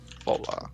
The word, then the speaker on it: Vola: Vola spelled like this. One L, but yeah. Vola. That. Like voila. Oh, yo, I can remember that.